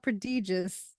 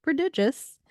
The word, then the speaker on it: prodigious: I did not all right so prodigious not prodigious uh is pronounced as I said prodigious and it's spelled p r o d i